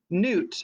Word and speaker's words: Nut: one sorry it's nuts i think or newt newt that's how they say her name newt the starry one had